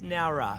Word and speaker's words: Nowra: And am I pronouncing the town right? Is it Nowra or Nowra? It's Nowra.